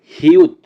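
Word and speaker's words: 히읗: তারপরে আছে লাস্ট সংখ্যাটি হিউত, হিউতের উচ্চারণ হবে হ এবং ত এর মতো।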